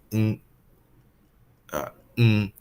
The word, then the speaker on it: Ng: this correctly but it's mm mm it's literally just the sound of what ng sounds like if you just separated out as its own sound and it in mode